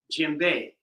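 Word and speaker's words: djembe: So again, this drum is called a Jimbe. Um, you will find it spelled Dj M. Jimbe, right? Some people spell it J E M V E. Uh, the D is silent, so some people just spell it J E M.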